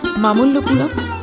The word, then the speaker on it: মামল্লপুরম: স্থানীয় উচ্চারণে মামল্লপুরম।